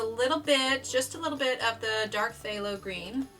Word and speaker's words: phthalo: Up until I started getting the color community, I had no idea how to pronounce that. In fact, I think way back when I was like first in college, like 18 or whatever, I think I actually pronounced the P.